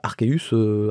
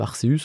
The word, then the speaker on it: Arceus: archeus vous débloque alors archeus Arceus c'est comme vous voulez d'accord je vais sûrement